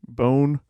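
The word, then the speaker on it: Beaune: Notre Dame in uh I'm gonna botch this pronunciation but bone it's b-e-a-u-n-e bone burgundy okay so um not too much detail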